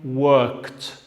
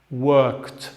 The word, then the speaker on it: worked: Ejemplos: work, presente o forma base del verbo; pasado, worked. Worked. Fija la pronunciación de este es t. Worked.